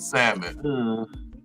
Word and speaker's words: salmon: And that's what be like, "Yeah, oh yeah, she pronounce the L and salmon." Oh, this just been living. What she do? She pronounced the L instead. She said thous. Oh god. said the L.